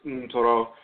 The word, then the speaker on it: Ntoro: same term for Ntoro, which is often pronounced nectar, but it's Ntoro, still vocalized in Akan tradition, as well as the Fang language, Torowo, and so forth.